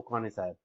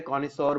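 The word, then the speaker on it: connoisseur: हो सकता है वो कॉनिसायर, ठीक। पर ये फ्रेंच वर्ड है, कॉनिसोर बोलते हैं, बहुत मतलब डिफरेंट डिफरेंट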